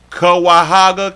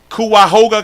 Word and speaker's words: Cuyahoga: Kawahaga County. No, that's wrong. Cuyahoga County. Got it. Cuyahoga. I can read. I'm trying to tell y'all something. Cuyahoga County.